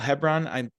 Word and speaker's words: Hebron: Sorry, Michael Hebron.